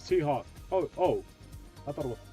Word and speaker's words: T-Hawk: Thok. No, his name's T-Hawk.